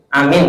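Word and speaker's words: آمين: terus tadi yang kedua amin ngih memang Amin cara bacanya adalah Amin gitu Nggih jadi panjang semua ya Kalau Amin berarti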